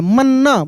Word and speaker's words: मन्नत: मन्नत में देखिए म न पे जोर लग रहा है मन्नत मन्नत यानी एक आधा न है एक पूरा न है तो मन्नत देखिए म आधा न फिर पूरा न और त मन्नत वैसे ही लिखा आएगा